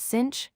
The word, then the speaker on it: sinh: Today, we are going to look at their hyperbolic cousins, pronounced sinh, cosh, and tanh.